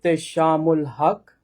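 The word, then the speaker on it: Ehteshamul Haque: My name is Shamul Hak and I am the central imam at Islamic Society of Greater Houston which is called ISG.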